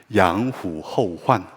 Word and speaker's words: 양호후환: 양호후환이라는 우리 한국어인데요, 원어민의 발음은 이렇습니다. 양후허환.